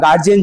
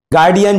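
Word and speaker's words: guardian: তোমার বাবার মতন আমরা গার্জিয়ান চাই গার্ডিয়ান চাই একচুয়ালি গার্ডিয়ান উচ্চারণটা হয় না গার্ডিয়ান তোমার বাবার মতন গার্ডিয়ান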